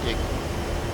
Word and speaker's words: EGI: The primary navigation system of the A-10C is the embedded GPS INS or EGI, often pronounced IGI.